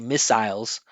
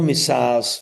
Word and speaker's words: missiles: here when they say missiles or missiles. Missiles. Missiles. But this is from the last live lesson. This is a salabic consonant. It's an unstressed syllable that has an L at the end.